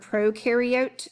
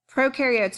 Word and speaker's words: prokaryote: come across the word prokaryote today pro rhymes with no it means before these